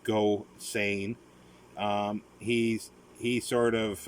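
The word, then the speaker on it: Gosseyn: uh go saying it's uh that's how it's pronounced go sane um he's he sort of uh has an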